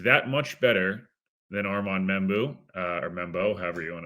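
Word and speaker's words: Membou: I'm not sure he's that much better than Armand Membu or Membo, however you want to. Just told it's Membo, which would be interesting because not a single soul is pronounced it that way.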